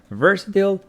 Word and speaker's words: versatile: see what versil means stress on the first syllable making it versatile versatile and British says versatile versatile so versatile and versatile yeah versatile someone who